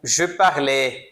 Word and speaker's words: je parle: Eu não falo G. Se eu começar a pronunciar mais aberto aqui, G, vai facilitar, né, pro